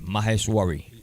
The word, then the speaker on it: Maheshwari: Maheshwari. You're the better man. Well, ready? they always tell me when you find a word, you break it down in syllables.